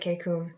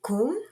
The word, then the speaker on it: KKOOM: It's so funny that you pronounced it KKOOM, Patrick, because everybody pronounces it like that. The acronym is actually KOOM. It stands for, or rather, it is the word dream in Korean.